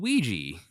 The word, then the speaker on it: Ouija: Jamie, and Jesse, and Ouija, the cat. Yeah, like the Ouija board.